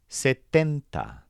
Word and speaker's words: setenta: And then the word for 70 is setenta. This stresses tent. Setenta.